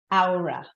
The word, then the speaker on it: Aura: Project Aura. Aura. Aura. Ow, like Like an owl. like owl, like an owl. I stub my toe, and ra. Okay.